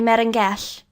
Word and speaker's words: Melangell: To this, the prince in admiration replied, "O most worthy Merengell," which is the way that the Welsh pronounce Monacella, "because, on account of thy merits, it has pleased God to shelter and save this little wild hare.